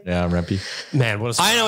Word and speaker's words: Rempe: Yeah, Rempe.